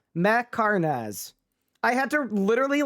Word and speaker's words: Mhekharnaz: How do you pronounce it? It's Fletcher Macarnaz. Macarnaz.